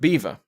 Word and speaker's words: Belvoir: a year to 1613 the witches of Beaver which is spelt belvoir but which apparently was to Norman for